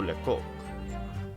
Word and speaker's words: Lecoq: Pronounced like Coke. Okay, so Monsieur Lecoq.